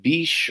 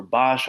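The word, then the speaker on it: Bache: Um Benjamin Franklin Bish or Bosch, I've heard it pronounced a number of different ways.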